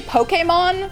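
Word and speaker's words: Pokémon: I feel like I'm saying Pokemon and Pokéstops like People who say Pokemon, which is actually the correct way to say it, kind of make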